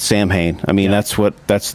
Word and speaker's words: Samhain: saw in which we talked about before it's Samhain I mean that's what that's the way that I pronounced it forever until I was free to